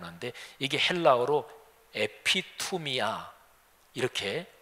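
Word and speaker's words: ἐπιθυμία: 번역될 수 있는 당 한데 이게 헬라 그로 에피 투 미 야 이렇게 발음합니다 매우 단어가 무슨 뜻이냐면 요 아주 중요한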